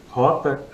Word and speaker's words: Hotta: Rota, é essa a pronúncia, né?